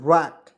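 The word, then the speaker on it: wreck: आर ई सी के तो क्या पढ़ेंगे दोस्तों रक क्या पढ़ेंगे दोस्तों रैक यहां देखिए रैक पढ़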